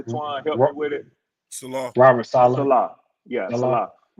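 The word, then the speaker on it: Saleh: I I always pronounce it incorrectly. Twan, help me with it. Salah.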